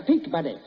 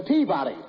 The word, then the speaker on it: Peabody: in memphis at the peak buddy you've got the wrong pronunciation it's the peabody i've got the right